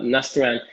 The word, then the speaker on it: Nastaran: Next week, I'm going to be talking to Nastaran Soleiman. I think that's how you pronounce her name. No, Nastaran.